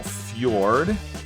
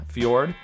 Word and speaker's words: fjord: one's kind of weird the J is kind of pronounced like a y I think yeah Fjord and then Nas and